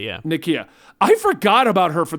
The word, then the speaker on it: Nakia: Nakia, I think that's how you pronounce her name. Yeah, Nakia. Yeah. Nakia.